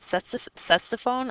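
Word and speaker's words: Ctesiphon: I pronounce it Sessophone, although I've heard it pronounced several other ways as well.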